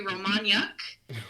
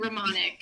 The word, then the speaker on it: Romaniak: is now, it was originally Niuk, and the UK turned into Nick. So it used to be Romaniak, like gross, ew, and it turned into Romanick.